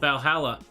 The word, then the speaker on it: VA-11 Hall-A: another month yay valhalla the name sounds silly and a bit hard to pronounce good thing it's actually called valhalla the funny numbers and letters are just a code anyway visited this cute and